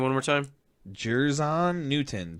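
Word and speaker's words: Jer'Zhan: Jerzon Newton. JER''ZHAN Newton.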